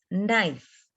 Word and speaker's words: knife: small example when you take a word of knife k is silent so the child will